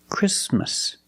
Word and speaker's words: Christmas: we don't say Christmas the t is between consonants so it is silent link the sound s with the m chrism Christmas Christmas and it's not only